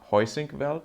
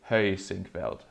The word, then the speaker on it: Heusinkveld: that to all Germans, the correct way to pronounce it, I think, is not Heusinkveld, like you would say in German. But imagine it being spelled with an Ö and then an I. So Heusinkveld. I think that's more like it.